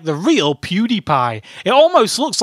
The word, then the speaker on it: PewDiePie: to draw today today you have to draw PewDie PE stupid YouTub betron it's pronounced PewDiePie not pewd anyway let's start drawing drawing Montage